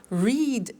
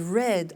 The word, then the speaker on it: read: read notice that now read and read are written exactly the same but the pronunciation changes in the past tense read read say said